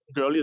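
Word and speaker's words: Goerli: just we started early that girly that's how we pronounce it was was pantheon and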